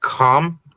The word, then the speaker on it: Ham: We have Kam, which we typically refer to as Ham, but in Hebrew, his name would be Kam is how it would be pronounced.